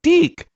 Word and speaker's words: DIC: So whenever the voice always pronounced Deek.